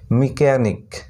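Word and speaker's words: mechanic: এ এন আই সি, মিকানিক, এটার উচ্চারণ হলো মিকানিক, এম ই সি এইচ এ, মিকানিক, এখানে সি এইচ সাইলেন্ট। তারপর এস সি এইচ ই এম E, scheme, scheme, এখানেও H silent, ঠিক আছে।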